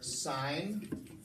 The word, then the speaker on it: sine: the trig ratios are signed which on your calculator i'm sure you've seen it they don't put simg they just with SI anna Sun sets in but it's pronounced sign good money and then